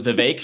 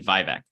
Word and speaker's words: Vivek: like really good wrong it was Vivek you got it right once and then vivec and then vivac was the third I mean it actually